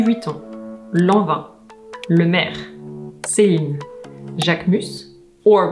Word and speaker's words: Jacquemus: Hermès, Christian Dior, Chanel, Louis Vuitton, Lanvin, Le Maire, Céline, Jacquemus, or with a southern French accent, because that's where he's from, Jacquemus, Courrèges, Chloé, Le Coq